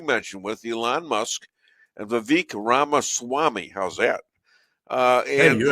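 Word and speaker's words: Vivek Ramaswamy: with what you mentioned with Elon Musk and vque ramas Swami how's that uh and you actually pronounced it right you can't remember my name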